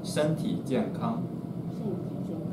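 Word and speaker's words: 身体健康: shentijiankang.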